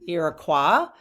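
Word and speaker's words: Iroquois: But I will call them um Iraqua because that is the French French pronunciation. Irakqua.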